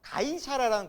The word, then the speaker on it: 가이사랴: 가이사랴라는 곳이 있고요. 그러니까 가이사랴. 정확히 발음이 가이사랴.